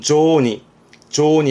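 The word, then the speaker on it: 雑煮: 앞엔 잡지의 잡자라, 그러니까 잡다한 것들을 넣어 삶았다는 뜻인데 발음은 조니 합니다만 의미적으로는요, 우리나라 같으면은 한국에 떡국이 있듯이 일본의 명절 음식의 이름으로 보시면 될 겁니다.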